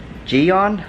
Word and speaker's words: Gyeon: I looked on to ji-yong I guess that's how you pronounce it it's a G ye o n I'm gonna put all